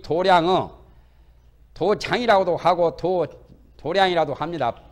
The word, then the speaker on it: 도량: 실력 때문에 이 도량은 도장이라고도 하고 도량이라도 합니다. 불교에서는 발음을 도량 그럽니다. 도장을 도량성 한다. 아침에 도량에 다니면서 소리하는 것을 도량성이라고. 글자는 장자인데 발음을 도량이라고 보통 해요.